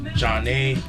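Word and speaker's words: Zhané: Then we got Zhane, pronounced Jah-Nay, released in 1994.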